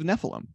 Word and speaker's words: Nephilim: House of Nephilim, they're doing like a reward based, right? And am I saying that? I swear, Nephilim. Yeah, you're saying saying it right. Nephilim.